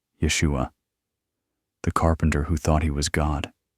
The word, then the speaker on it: Yeshua: Jesus, the voices said, pronouncing it in the original Hebrew. Yeshua.